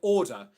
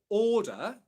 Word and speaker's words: order: Okay, so order. There's two R sounds spelt in that word, neither of them are pronounced.